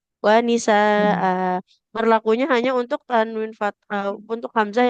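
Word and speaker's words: نساء: Kemudian apabila ada huruf hamzah berharokat tanwin fathah di akhir, kita wakof ya, jadi dibacanya panjang. Wa nisaa.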